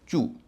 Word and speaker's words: chew: CHEW, चू, जोशीले चार की चौथी ध्वनि च, यहाँ भी EW का उच्चारण होगा ऊ।